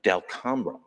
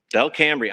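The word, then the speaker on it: Delcambre: she's a lovely person, from Del Cambra. Del Cambria, I'm sorry. That's how it's pronounced, Del.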